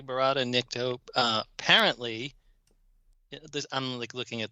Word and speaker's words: verata: quick about Cloud 2 barata Nick to uh apparently this I'm like looking at this on IMDb it's a slight variation pronounces the second word is verata apparently this is intentional